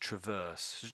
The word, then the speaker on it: traverse: e there, it's just traverse. Just say traverse, maybe traverse. Traverse. Yeah, Traverse. yeah. So it's basically the word verse with tra stuck in the front of it.